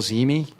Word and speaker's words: Zehme: I don't know how you pronounce that guy's name. Bill Zimi.